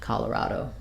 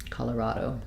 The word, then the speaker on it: Colorado: has some secondary stress so Colorado um both a and then awah here and a true o at the end Colorado Colorado um there may be